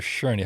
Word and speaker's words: Shurney: Sherney. How do you spell that in case someone wants to go looking for that book?